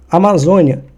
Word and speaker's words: Amazônia: Amazônia, ela é uma paroxítona, ou seja, tá aqui no número 2, ó. Sempre eu gosto de contar com números. A última sílaba tônica é 1, penúltima sílaba tônica é 2. E a antepenúltima sílaba tônica é o 3. Nesse caso, a sílaba tônica, a mais forte, ela está no 2, ou seja, na penúltima.